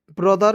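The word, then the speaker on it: brother: एच ई आर तो टी एच का उच्चारण यहां प द के रूप में करेंगे आर का उच्चारण र के रूप में करेंगे क्या हो जाएगा ब्रदर ठीक है अब कहिए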